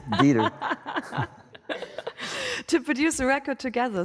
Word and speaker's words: Dieter: I hope I pronounced that right. It sounds so German. Dieter, oh, yeah. I would imagine you would pronounce that right. It's Dieter.